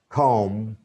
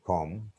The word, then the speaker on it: comb: And the next one, the next tip and trick, B is silent if a word ends in MB. Here, tomb, om, comb, limb, nam, thumb, and dam.